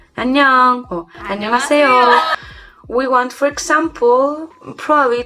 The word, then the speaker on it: 안녕하세요: Let's make it syllables. We have 안녕하세요. 안녕하세요. 안녕하세요. You have to make it fluid, you know? Like, it's familiar to you.